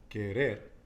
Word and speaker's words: querer: In the end. Querer. Okay, it's not querer, but you did say it right, but I just want to emphasize to everybody, querer.